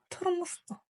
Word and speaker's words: тұрмыстық: Тор, тормоз, тормосток. Тор, тормоз, тормосток. Напомню, У с черточкой снизу, что это короткая версия буквы О.